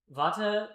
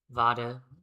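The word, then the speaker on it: Vater: is spelled in German vada but it's not it's not pronounced with a V, it's pronounced with an F.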